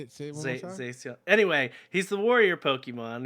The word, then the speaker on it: Zacian: And the reason why I say it's pronounced Zacian or Zacion is because it is derived from the word scion, as in the As in the car that nobody wants to drive?